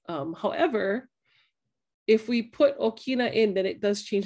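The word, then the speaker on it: ʻokina: have our indigenous centers and okina now the okinawa is a glottal stop and that makes that little in your in your throat right and so okina are very important to pronounce um what's kind of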